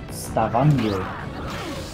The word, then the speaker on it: Stavanger: Stavanger. But why is it pronouncing the J? It's a G.